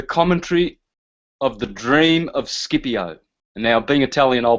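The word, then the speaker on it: Scipio: this is the commentary of the dream of skipio now being Italian I'll pronounce that shiio because that's the correct pronunciation but there it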